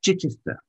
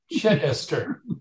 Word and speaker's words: Chichester: It's Chichester. The emphasis is on the chick, as in chick. Got it. Chichester.